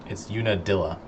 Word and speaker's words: Unadilla: Comments are saying it's Unadilla.